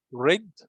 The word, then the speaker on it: read: the base form and the past symbol it's red red just the pronunciation red but same letters and the past